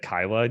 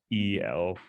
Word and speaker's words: Caela: if you remember this or not, but the first time I said your name, I said Kyla.